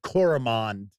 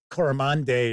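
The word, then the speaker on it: Coramonde: If you have ever checked out Doomfares of I always pronounced it Cororamand I think it's Coramande or something like that is how it's supposed to be pronounced.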